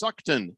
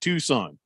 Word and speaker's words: Tucson: Tiwa says, no, it's pronounced Suckton, not Tucson. Well, we do make that mistake sometimes.